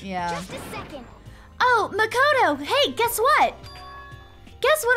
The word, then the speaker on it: Makoto: Because Celeste always says Makoto. It's Makoto. Oh, it is Makoto? Okay. Celeste says Makoto, Makoto. but everyone else says Makoto.